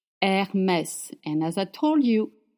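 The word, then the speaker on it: Hermès: Her er we pronounce H. Hermess and as I told you makes the sound.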